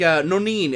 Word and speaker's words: no niin: It's like no niin. How do you actually pronounce that?